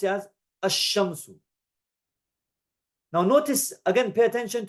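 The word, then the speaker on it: الشمس: Now ashamsu we write that asshamsu and we pronounce it asshamsu.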